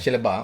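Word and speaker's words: Shellabear: Diusulkan macam mana nak pronounce dia? Shellebert ke Shellebert? Shellebert.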